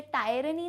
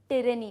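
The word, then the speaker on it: tyranny: Again pronunciation में बता चुकी हूँ, इसे टायरनी नहीं कहते हैं, इसे टिरनी कहते हैं.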